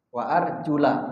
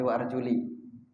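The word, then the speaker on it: وَأَرْجُلَ: Wa arjula, bukan juli ya.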